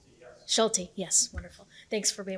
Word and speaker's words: Schulte: Robert Schulte from Ace and I hope I pronounced that correct Schulte yes wonderful thanks for being with us good